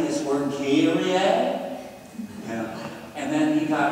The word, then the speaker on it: Kyrie: Rockenberger, can you tell me how to say this word, Kyrie? Yeah. And then he got in there and he gave the downbeat. Kyrie.